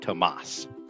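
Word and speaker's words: Tomás: in his name but mr morrissey's name is pronounced tomas and i want to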